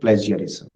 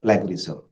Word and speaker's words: plagiarism: misconduct falsification fabrication and plagiarism my dear students the word is plagiarism not plagarism sometimes we pronounce it